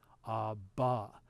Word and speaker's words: Abba: In Aramaic, it's an ah, it's like an AH sound at the end, very similar, but instead of a ha at the beginning, it's an ah at the end, such as in Abba.